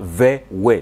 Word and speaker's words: VW: Unajua V ni kwa Kijerumani, VW inatamkwa kama Vewe.